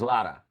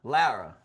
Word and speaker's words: Lara: Lara. Lara. Yeah, I rebranded. I used to say Lara, but then a girl told me you're saying it wrong.